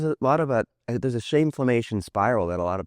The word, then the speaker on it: shameflammation: You said it right. Right? Okay. Which is rare. Normally people are like shameflation. Right. I feel like it's some economic term. But shameflammation is just an intersection,